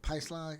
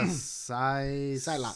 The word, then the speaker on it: Psylocke: They were Magneto, Storm, Magneto, Storm, Angel, Cyclops, not Cyclops, but Pyslog. I can never pronounce that name. What are you talking she has like the pink. Oh, Psylocke.